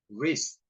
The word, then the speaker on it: wrist: W, W, silent. Right. Answer. Wrist. Wrap. Whole. Whole. W-nya silent ya.